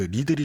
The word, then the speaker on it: Lidl: 그러니까 그 리들이 좀 큰데 한 뭐 8, 9% 되는 것 같고. 이름이 리들이에요? 리들입니다. 리들. LIDL.